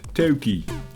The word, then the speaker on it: Toki: Although, if you ask me, when I read it, Toki. Like Tony.